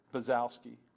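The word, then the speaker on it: Bonczewski: Baczewski is how he pronounces pronounces it. Baczewski.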